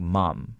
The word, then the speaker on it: ma'am: Or sometimes I even hear ma'am pronounced like mom. Yes, mom. Yeah, I think in Britain. Yeah, and also countries that have British influences will say it like that as well.